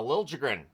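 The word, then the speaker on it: Liljegren: assists 13 points uh Lil jren 12 games one goal two assists three points I'm well aware of what that sounds like that's how he wants it pronounced on the Utah side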